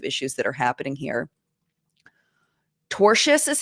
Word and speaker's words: tortious: Tortious is how it's pronounced, Anna.